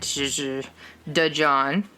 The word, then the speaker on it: DaJohn: DaJohn. It's D-A' John. Oh. Yeah. Okay. So I'm having to and it's, yeah, I know. I thought you were doing a D-E and just pronouncing it duh, no.